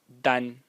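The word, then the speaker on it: 丹: this to today oh sorry like this it's pronounced Dan and it just means Vermilion red and uh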